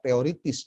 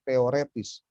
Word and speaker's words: teoretis: ingin membiasakan istilahnya tidak teoritis ya, karena dalam bahasa Indonesia yang baku, penulisannya itu yang benar dan pengucapan yang benar bukan teoritis, tapi teoretis. Karena berasal dari kata bahasa Perancis.